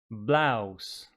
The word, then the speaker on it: blouse: Blouse, blouse, like the pronunciation of house, mouse, blouse.